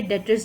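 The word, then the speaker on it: debtors: भी कह सकते हैं और बी को साइलेंट करके डेटर्स भी प्रोनाउंस होता है अकाउंट रिसी वेबल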